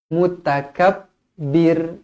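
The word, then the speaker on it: المتكبر: qamariah lagi jabbarul mutakabbir mutakabbir ro dibaca nipis kerana sebelumnya berbaris bawah mutakabir mutakabbir subhanallahi Amma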